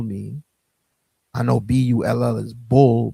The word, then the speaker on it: Bul: I know B-U-L-L is bull, but B-U-L, I believe is pronounced bull, exactly, pronunciation B-O-O-L, bull, right?